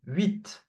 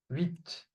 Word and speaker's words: huit: So, UI combination. So this combination is pronounced oui. Okay, oui. Like oui. Okay, oui. For example, huit, huit, the number 8.